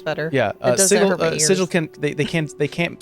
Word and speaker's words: sigil: right way but no if they wanted it to be called sigle they could have made it s i g g i we never going to